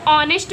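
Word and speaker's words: honest: ये गलत है। इसको ऑनेस्ट पढ़ा जाएगा। ऑनेस्ट मींस ईमानदार। तो ये तुम्हारा वोवेल निकल रहा है। है ना वोवेल? जबकि ये कंसोनेंट है। लेकिन जो हमने इसको उच्चारण किया हमने इसको बोला तो जो ध्वनि निकली वो वोवेल निकली।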